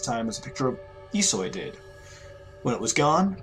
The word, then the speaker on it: Ihsoy: the Demonic Yoshi was really es soy that's esoy pronounced there you go that's the pronunciation when oam